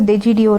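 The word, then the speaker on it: D'Egidio: Anyways, it is pronounced as DeGiDio, right?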